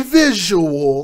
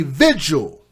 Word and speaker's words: vigil: Not a visual, like people like to mispronounce it. A vigil.